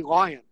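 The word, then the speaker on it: Lyon: on a street called lion street it's spelled l-y-o-n now that probably should be pronounced leo but in san francisco we say lion my father grew up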